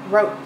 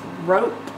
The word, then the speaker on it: rope: or oh oh rope three sounds fur oh It's gotta have any on the end because otherwise it'd be Rock it's not rock it's rope the E makes the o say oh oh rope oh